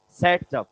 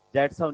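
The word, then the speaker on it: Saytzeff: इसको प्रोनाउंस कैसे किया जाता है? सेट्सअप। दैट्सअप नहीं होता ये।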